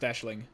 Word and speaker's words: Aisling: my mistake no that's um I believe it's pronounced Aisling okay yeah cuz like recent Riesling is a